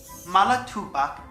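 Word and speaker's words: Mallatobuck: Their true pronunciation is Malatubak, Itchy Cheetuck, Lumpa Warrum.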